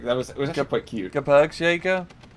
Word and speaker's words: Gebirgsjäger: Gebergsjager. Am I saying it right? Gebergsjager, yeah. Gebergsjager.